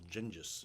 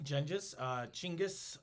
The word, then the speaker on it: Genghis: I've also heard it pronounced Ghengis. Chinggis. Nah. There's a few pronunciations.